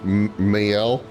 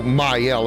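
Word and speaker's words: Maelle: And male equivalent is male. In French, the two dots of a vowel. Allow that letter to be pronounced separately. So, so mileel as opposed to male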